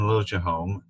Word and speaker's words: Liljeholm: We have a You always Swedish want to say last name and we pronounce it the American way. so Joanne Liljeholm, who I've known for